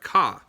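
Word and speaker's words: か: make something a question you add kah even rhymes with ma so like if i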